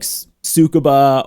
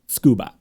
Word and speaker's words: Tsukuba: people pronounce it like sucaba or or you know any other way um the the roughly correct way to pronounce it is scuba so I kind of